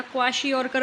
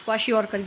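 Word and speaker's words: kwashiorkor: Deficiency diseases देखो, याद होने चाहिए ये, प्रोटीन, क्वाशिकॉर, ठीक है। प्रोनाउंसिएशन देख लेना, क्वाशियोरकर बोलते हैं, यस क्वाशियोरकर, यस।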